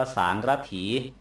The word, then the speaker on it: สารถี: ก็ มา จาก วังกะ น่ะ นะ วง ต้อง สะกด ด้วย ก ไก่ คารัน ด้วย ต่อ ไป สา รถิ ไทย เรียก ทั ศัพ ว่า สาระถี หมาย ถึง คน ขับ รถ รถ อะไร ก็